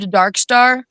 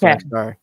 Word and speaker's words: Dvrkstar: episode what's up so is your name pronounced Darkstar yes it is it is pronounced darkar awesome good to know